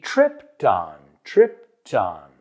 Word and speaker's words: tripped on: La ed de tripped suena como una T. Y lo uno con el on. He tripped on. No es tripped on, sino tripped on. Suena como Krypton de Superman, pero tripped on.